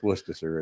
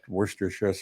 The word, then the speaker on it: Worcestershire: Now, here's one that I love because you hear people say, instead of Worcestershire sauce, they say Worcestershire sauce. Like, no, it's Worcestershire. It's not Worcestershire.